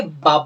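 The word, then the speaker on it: 밥: তো এই ক্ষেত্রেও কোরিয়ানরা বলার সময় যেহেতু বটা প্রথমেই উচ্চারণ হচ্ছে, এই জন্য এটা বটাকে ভয়ের মতো উচ্চারণ করবে, ভাব।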